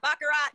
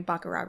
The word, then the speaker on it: Baccarat: I want to be you don't pronounce the T in baccarat I'm sure she's probably wearing baccarat Rouge but she's confusing